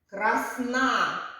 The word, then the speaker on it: красна: ставимо над голосним е красна чи красна красна на другому складі молодці дітки нам Став